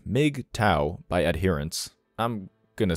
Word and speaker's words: MGTOW: back to the article mgtow pronounced m Mig TOA by adherence I'm going